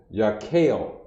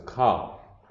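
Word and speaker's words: kaph: pronounce your cop now people are going to want to say ya kale make that a long a no such thing in in in hebrew some of the things we'd be reading brothers are one of our sisters who want to pronounce uh kale makalaka or something like that and it's not it's cop remember it's about the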